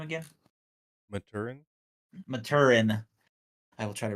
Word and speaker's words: Maturin: so that was interesting and then the uh multier or how do you say his name again Maturin Maturin I will try to remember that uh